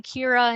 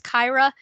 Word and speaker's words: Kyra: last semester kyra that i kept saying kira and it was kyra i felt real bad when i found out that i was saying it wrong um so i'll